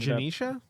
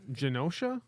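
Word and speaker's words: Genosha: terrible who who ended up in the past uh in Janicia and and Janisha. Yeah, Janosha.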